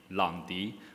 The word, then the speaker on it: Lang Di: long be in Chinese pronunciation actually the correct pronunciation should it be long d but I bet it's a little bit of